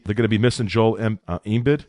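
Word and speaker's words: Embiid: they're gonna be missing Joel embed is that how you say his name yeah envid and they're hoping he's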